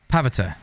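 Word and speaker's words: Pavitr: Yeah, no, I people are typing it the way it's spelled, but do it phonetically. Pav-itir. Pavita.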